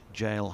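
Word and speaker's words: gaol: word would have sounded like the word gale this follows the rules of a hard g sound preceding the letters a o and u i'm not aware of the reason why jail had its pronunciation changed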